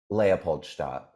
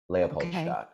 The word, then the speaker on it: Leopold: listeners this is how you say it leapolt leapat leapolt yeah Okay.